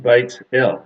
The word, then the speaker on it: Bethel: a very important place it's literally pronounced not Bethel of course it's pronounced Beit el which literally means the